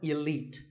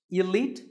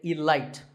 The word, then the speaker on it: elite: 48 is the word elite actually there are two correct pronunciations Elite and Elite both are okay but just don't say Elite there's no light in Elite now if you keep